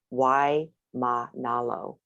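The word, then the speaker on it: Waimānalo: Something Monolo or something, but you don't say M-A-N, it's ma, breaks the syllable, then the next one starts, you know, so that's like Kapi'olani Boulevard, why ma nalo, you know, so you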